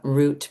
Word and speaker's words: route: really realize how many of these words can be interchangeable pronounced and um that's one of them right there. So, and I understood that um the song get your kicks on Route 66 really helped to seal the root pronunciation back.